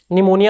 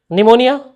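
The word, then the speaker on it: pneumonia: निमोनिया किससे start होता है? पी से, तो लिखिए। हाँ, पी से ही होता, तो लिखिए ना। बताइए कौन बताएगा निमोनिया का स्पेलिंग? Very good, MONIA। बस पी पता नहीं क्यों देता है। अरे नहीं, निमोनिया ही बोलना था तो एन से ही बोल देता। क्या जबरदस्ती पी घुसाओ इसमें, है ना।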